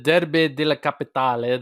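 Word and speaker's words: Derby della Capitale: is that how we say it mate the derby de la capitali thank you mate for fixing up my pronunciation there so lazio got three two over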